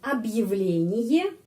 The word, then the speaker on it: объявление: Jadi seperti di sini объявление juga sudah saya sebutkan setiap video yang Anda harus tahu untuk membaca kata ini secara benar ya. Объявление.